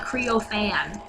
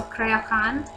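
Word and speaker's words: Creaothceann: I think that's how you pronounce it. I don't actually. I know it's not Creo-Fan, but so Crayohan.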